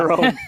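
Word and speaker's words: Jarome: Jerome. The soft J.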